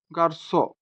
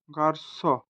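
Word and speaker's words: garçon: গার্সো, গার্সো, গার্সো, যার অর্থ হচ্ছে বয়।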